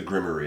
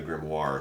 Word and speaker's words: grimoire: understand what it was they Mis pronunced it the as the grimy instead of the grimoire so that's how we